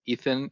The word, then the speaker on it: Eitan: My name is Eitan, or Ethan, if you want to pronounce it in its English version.